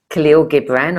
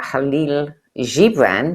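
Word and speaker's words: Kahlil Gibran: His parables and poems by Khalil Gibbran or Halil Gibran depending on how you pronounce it and many people pronounce it different ways.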